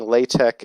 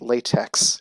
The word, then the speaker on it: LaTeX: one of those things like pronouncing Lai tech as latex you just don't do it so once you know